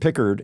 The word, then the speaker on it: Pickard: so I'm expecting Pickard now that I know how to say his named picker in goal for the